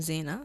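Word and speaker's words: Zhayna: on all social media platforms at I am Zena so my name is spelled z h a y n a and of course you can follow my music on all musical platforms my name is Zena again so it's z h a y n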